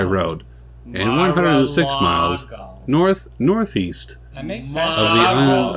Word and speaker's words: Mar-a-Lago: road, and 106 miles Mar-a-Lago. northeast That makes sense. of the island of Mar-a-Lago. I mean, Say it like a New Havana. Yorker and you understand. Malago. Malago.